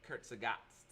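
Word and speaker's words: Kurzgesagt: tomorrow because let's see Kurt sagot that's how you pronounce that by the way if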